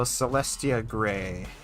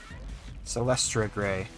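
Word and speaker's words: Celestra Grey: Alright, so Celestia Gray. Celestra Gray. I've been saying it wrong this whole time.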